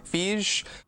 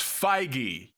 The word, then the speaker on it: Feige: I'm not quite sure how to pronounce his name. Fij. Oh my god, it's Feige. That's like saying, is it Rion Johnson?